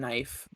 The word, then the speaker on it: knife: know people they use people used to pronounce the k's and knight and knife but um they said they yeah they used to say knife and canine and that was the way to say it that's i'm pretty